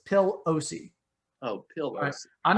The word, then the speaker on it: Pelosi: i mispronounced her name it is not pelosi it is pill ose oh pill i'm not